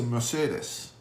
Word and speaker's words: Mercedes: Mercedes-Benz, and so it's not Mercedes. I hear a lot of Americans say, Mercedes? I have a Mercedes? No, it's a Mercedes. Okay? Das ist Deutsch. Okay?